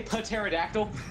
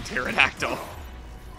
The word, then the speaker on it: pterodactyl: I think the best part about that is even the Japanese don't pronounce the P in pterodactyl.